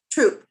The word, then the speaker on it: Throop: Troop. Troop is how you pronounce it. Troop. Wonderful. I should know that because we have a congregation in Pasadena that's spelled exactly the same way. It's a silent H.